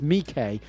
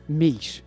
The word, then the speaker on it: Miche: Yeah, it's an Italian brand, and that's how you say it, is Miche. It's not Miche, it is Miche, and that's because the guy behind it had a similar name to Michelin, so he wanted the brand to be separate.